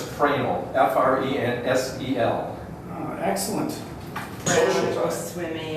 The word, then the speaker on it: Fresnel: It's actually pronounced Fresnel, F-R-E-N-S-E-L.